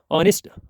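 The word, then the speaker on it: honest: ऑनेस्ट, ऑनेस्ट प्यारे बच्चों, यहाँ पे एच, ये एच जो है क्या रहता है प्यारे बच्चों?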